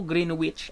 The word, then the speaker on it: Greenwich: Greenwich in England him people Greenwich Greenwich right so you pronounce that one with the silent W right so alumni Boone